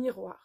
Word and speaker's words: miroir: Un miroir. Acuérdense que la O y la I se pronuncia wa, como una U y una A. Wa.